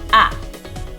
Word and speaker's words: as: she I have - ah you have to AH and be careful here because ah has that silent S on the end you can't hear it but it's there don't forget about it